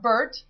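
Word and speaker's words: BIRT: ACTU, discussed the company's powerful open-source RAI development environment product BRT, pronounced BERT, uh, expected to generate $16 million in 2008 as downloads have increased threefold since 2006.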